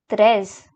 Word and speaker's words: treize: Now comes 13, which is called as treize.